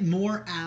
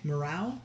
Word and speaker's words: morale: know no no no you were pronouncing it more owl which is why I made a joke of like what about less about is he a good guy that's how okay morale now I can't even